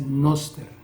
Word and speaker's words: noster: Nuestro se dice noster, noster, no se dice noster.